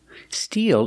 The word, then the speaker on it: steel: Different spelling, same pronunciation. Use the long E like green beans. Steal. Steal. Steel is a form of metal.